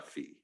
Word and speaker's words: phi: rho um theta and a fee are phi i pronounce v sometimes i switch okay so there's one